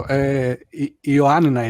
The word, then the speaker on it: Ioannina: Please help me with the pronunciation. Villagers of Ioannina City. So Dimi, tell us. So Ioannina is actually the word, and it's my city.